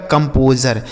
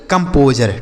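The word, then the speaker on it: composer: कंपोजर ठीक है तो एस यू आर ई अगर किसी भी शब्द के अंत में लिखा हो तो उसे आप ज पढ़ेंगे ना कि सर ठीक है जैसे ट्रेजर मेजर प्लेजर कंपोजर और सी आई ओ यू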